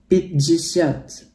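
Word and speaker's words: пятьдесят: Kita bacanya jesit memang, tapi kalau di sini dibacanya jadi jesit. Ya, jadi kalau 50 jadi pijisyat.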